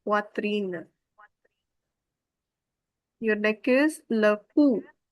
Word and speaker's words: poitrine: Why is the wa sound? This is in poitrine.